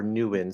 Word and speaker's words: Nguyen: Correct, well, with but the Vietnamese name with the Y-E-N at the end is pronounced Win or New or Nguyen.